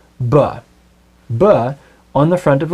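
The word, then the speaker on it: בְּ: Our first preposition is the one-letter prefix spelled with the letter bet and pronounced ba.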